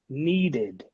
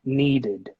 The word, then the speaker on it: needed: voiced repeat tried D okay tried number seven needed the verb need ends in a death sound so then in this case we should pronounce it as an it in the end of cake needed needed good number eight D sound okay guys